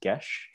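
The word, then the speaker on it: Geis: i really enjoy uh is called gesh it's spelled g g-e-i-s by alexis deakin yeah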